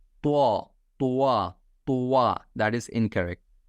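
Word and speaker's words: ط: They like pronounce it like to. That is incorrect. Try to make it heavy. Okay, like to. Very simple. To. Don't make it circle. Don't make your mouth circle.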